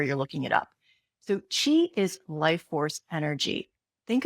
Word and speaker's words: qi: It's spelled ch hi or qi depending on where you're looking it up. So chi is life force energy.